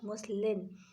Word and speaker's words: muslin: ऐसे ही पढ़ लिया, मैंने बोला मुस्लिम क्लॉथ, मैंने बोला है मुस्लिम भी कोई क्लॉथ होता है। फिर मैंने ध्यान से स्पेलिंग देखी तो इट वॉज मुस्लिन, MUSLIN, ठीक है।